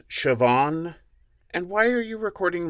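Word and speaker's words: Siobhan: hands on yes sir what's a scoundrel name sahab o are are you sure that's how that's pronounced it's how it's spelled Shan what the name is pronounced shoban and why are you recording lines I never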